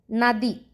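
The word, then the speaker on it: നദി: Then the word is Nadi. First letter is na. That letter has two pronunciation, na and na, but we says na. The reason is the word starting with that letter. So na di.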